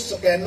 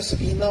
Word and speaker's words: سکینہ: برادر سے کیا ہوا۔ اس کا تلفظ سکینہ ہے، پنجابی یا اردو میں سکینہ مستعمل ہے، بہرحال وہ بھی آپ پڑھ سکتے ہیں، درست تلفظ سکینہ ہے۔ یا سیدہ معصوم